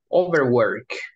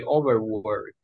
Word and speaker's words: overwork: Overwork. You say overwork, overwork. So remember, el estrés está asociado. So it's like in this, overwork. Aquí está el estrés.